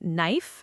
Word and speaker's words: knife: I remember asking a teacher once why knife has a K you never hear, and she just said, "That's English."